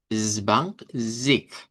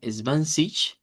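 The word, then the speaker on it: zwanzig: Entonces, eh cambia el sonido y vamos a decirlo como zbank zic. Es una pronunciación con K que decimos que suena más al dodge sureño o dodge austríaco y decirlo como eh es van con un sonido como que fuera una especie de ch o de o bueno, más bien de sh. Eh, svansich, svansich sería la pronunciación en dodge neutro.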